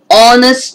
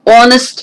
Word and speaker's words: honest: see the last word honest man this first letter h is silent so the beginning sound is o honest man o sound is